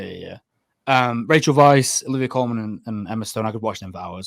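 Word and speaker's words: Weisz: Trio of Vach R is it how do you say that is it vice vice I think it's Vice German W like Vim vendors Vice yeah yeah yeah um Rachel Vice Olivia Coleman and Emma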